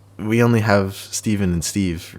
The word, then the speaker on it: Stephan: It's spelled with a PH and an A, so you'd think it's Stephan, but it's actually Stephen.